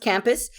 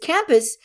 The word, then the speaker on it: Campu5: I think it's pronounced Campus.